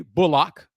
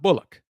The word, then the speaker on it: Bullock: Rockets signing of Reggie Bullock, and it is pronounced Bullock, not Bullock.